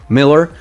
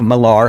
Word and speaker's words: Millar: this one is done by mc mark mick miller mark miller or mark millar however you want to pronounce his last name and this book sounds